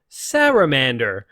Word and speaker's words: Salamander: we are checking out salamander / Cera Mandor yes according to Wikipedia you can pronounce it either way I think it becomes from the fact that this is a Japanese game and in the Japanese dialect you don't have separate syllables for R and L so sera Mandor